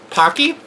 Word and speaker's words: Paqui: ghost pepper haunted chips supposedly the word Pocky rhymes with hockey does the ads tech